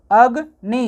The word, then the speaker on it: अग्नि: के लिए नहीं है, इसलिए हो जाएगा अ, ग। और न में छोटी ई की मात्रा नी, अग, नी।